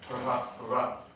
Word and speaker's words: Prahlada: Prahlada.